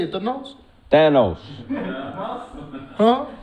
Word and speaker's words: Thanos: Thanos. Huh? You spelled it Theynos. You said they knows.